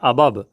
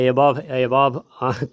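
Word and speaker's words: above: Pronunciation ठीक से करेंगे, ये है अबब, है ना, अबब, है ना, ब और व, अबब। ठीक है, वैसे एबव पता नहीं क्या सब पढ़ते हैं, अबब होता है।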